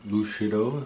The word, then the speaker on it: Lucido: And Lucido, if you want to say it correctly.